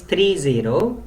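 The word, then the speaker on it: thirty: like 13 or 1/3 so when it is 3-0 the stress is on the first syllable that is 30 and that's why I have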